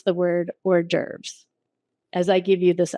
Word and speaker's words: hors d'oeuvres: I just want you to know that the correct way to pronounce this word is hors d'oeuvres, right?